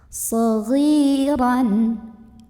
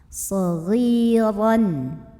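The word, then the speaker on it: صَغِيرًا: Maka cara membunyikannya, huruf ghain yang baris kasrah kita panjangkan 2 harokat. Saghiran. Kemudian ra-nya ini dibunyikan secara tafkhim karena ra-nya berbaris di atas tanwin fathah. Maka bacanya tebal, pangkal lidah dinaikkan.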